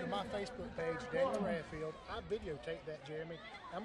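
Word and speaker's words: Raffield: Daniel Radfield, just like it's spelled.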